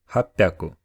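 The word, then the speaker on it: 八百: Kyu Haku Sanju go it seems simple but unfortunately there are some exceptions do Japanese people pronunciation of 300 600 and 800 seem difficult because to do so you had to say two syllables with voiceless consonants in a row so they made it easier to pronounce them by making 100 sound different this means that to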